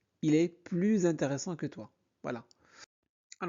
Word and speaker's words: plus: par un h mué, alors on fait une liaison obligatoire. Regardez c exemple. Il est plus intéressant que toi. Ici S devient Z. Il est plus intéressant que toi.